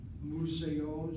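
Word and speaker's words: מוזיאון: Museon sounds like the word museum. Museon, museon, museon. 3 syllables.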